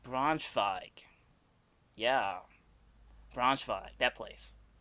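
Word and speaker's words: Braunschweig: that city it's not bronze wig w's are pronounced like v's in german so it would make it like bronze fog yeah bronze five that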